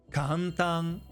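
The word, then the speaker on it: 簡単: But since every kana has one unit of length, it's actually pronounced ka-n-ta-n. Four units.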